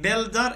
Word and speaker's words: builder: law lawyer okay and you in builder is silent silent we don't say you mechanic CH we say